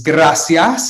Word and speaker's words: gracias: Of course, I assume everyone knows that this is gracias, and you really want to roll your R here.